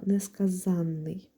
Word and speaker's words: несказанний: У нас є слово несказанний, де наголос падає на літеру А, тобто на суфікс ан є наголошеним. Відповідно у нас відбувається подвоєння. А ось якщо ми змінимо це слово на дієприкметник несказаний, то ось тут наголос змінюється. Наупадає на другий склад. А отже, суфікс ан вже не наголошений, тому в нас і не відбувається подвоєння.